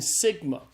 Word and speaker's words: sigma: P ro and then Sigma Sigma is the S sound in Greek so Sigma's pronounced like the s in the English word study one of the things